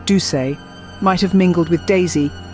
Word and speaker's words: Duse: her unique acting style her surname pronounced duay might have mingled with